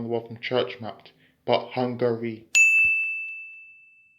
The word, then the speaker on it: Hungary: And speaking of pronunciation, be sure to not make the mistake of thinking it's Hungary. It's not hungry, as in I'm hungry for a piece of cake, or I'm hungry for